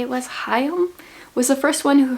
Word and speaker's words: Chaim: Okay, according to the YouTube video that I watched, it is Chaim, even though it's pronounced C-H-A-I-M. It is a Hebrew name.